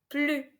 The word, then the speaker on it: plus: Faites attention, on ne doit pas prononcer S à la fin parce que c'est une négation. Ne plus.